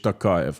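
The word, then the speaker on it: Tokayev: I say Bravo Kazakhstan Bravo kasim Jamar kich Takay I contrary to Vladimir Putin say his name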